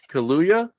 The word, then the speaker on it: Kaluuya: They love Daniel Kaluuya. I can never say his name right, but his Spider-Punk Loa? Kaluuya.